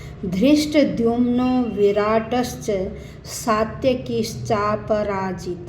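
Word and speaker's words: धृष्टद्युम्न: line का उच्चारण बताऊंगी धृष्ट दमन यह द और य से मिलकर बनता तो इसलिए इसका उच्चारण भी दमन दृष्ट दमन पहले द और फिर य की आवाज दृष्ट दमन विराट सात्यकि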